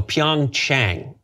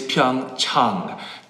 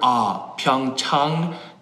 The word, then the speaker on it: Pyeongchang: The correct pronunciation is Pyeongchang. Chang, like when you go see your doctor, Pyeongchang, Pyeongchang, Pyeongchang.